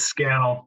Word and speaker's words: Scannell: correctly is it schnell or scannell it's scandal rhymes with channels i love it and